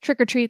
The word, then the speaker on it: Trick 'r Treat: 80s movie Matthew yeah this is Trick r Treat but still pronounced trick or treat that came out in